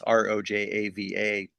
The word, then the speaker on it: Rojava: Northeast Syria, aka Rojava, or it's pronounced, it's Rojava. That's a name in Kurdish.